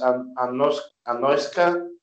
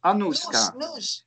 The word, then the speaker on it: Anuska: Anoska? Almost. Anuska. Anuska. Anuska. Nus.